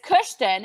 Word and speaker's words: Kushton: But my son's name is Kushton. In case y'all didn't know, we spell it. I did not know. It's awesome. It's Kushton.